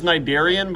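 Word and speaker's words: Cnidaria: this one's tricky because it has a silent letter at the front the name is nidarian but it starts with a C c n i d a r i a Nigeria foreign it's way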